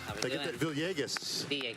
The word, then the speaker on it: Villegas: I've actually pronounced it with the L's because I'm from New York originally. All right, so she's like, yay, like yay, like with a Y.